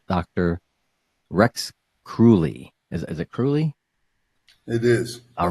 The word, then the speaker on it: Kruhly: Is it Kruhly? It is. All right, I pronounced it right.